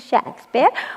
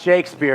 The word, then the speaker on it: Shakespeare: fetch us some tea oh yes Mr Shack bear whatever you say Mr Shakespeare tosser pronounced Shakespeare you know quick wit